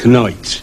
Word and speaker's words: knight: For instance, just before Elizabethan English, KN in the word knight, like a knight on a horse, was still pronounced knight.